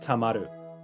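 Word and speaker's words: 溜まる: oh, okay, this is supposed to be pronounced tamaru.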